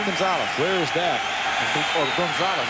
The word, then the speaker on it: Gonzales: that's how they say that's gonna ask you to pronounce that one that's gonzales where is that gonzalez